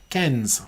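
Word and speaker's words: quinze: Oh, they said instead of Cairns, it's cans. Cans. Right, you have to say it like there. It's like 15 in French. Cans.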